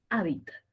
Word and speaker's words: hábitat: o hábitat esdrújula cierto parece que fuera grave parece pero tiene tres sílabas y la mayor fuerza de voz está en la tercera Entonces ese esdrújula y